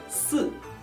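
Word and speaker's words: 四: Số 10 là sứ, số 4 là sự. Các bạn nhớ đọc số 10, hãy tròn môi và rõ chữ.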